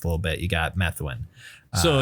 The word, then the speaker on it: Methuen: Starting out as sort of a hardcore or metallic hardcore band, originating from Methuen, Massachusetts, or Methuen was probably how it's said, which is kind of a suburb to the northwest of Boston.